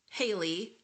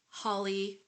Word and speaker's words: Halley: read it was like it could be either rhymes with Valley daily or Crowley so it's like you